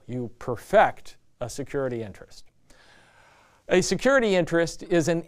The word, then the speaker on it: perfect: and by the way when you say this perfect as a verb make sure you emphasize the second syllable you perfect a security interest a